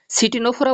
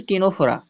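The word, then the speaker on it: Ctenophora: টেনে বলতে টিনোফোরা, এই দেখো এই যে লাস্টের একটা ওয়ার্ড সিটিনোফোরা বলি না যেন, ওটাকে ওর উচ্চারণ সি উচ্চারণ হবে না, সি উজ্জ থাকবে, তাহলে ওটার সঠিক উচ্চারণ হচ্ছে টিনোফোরা।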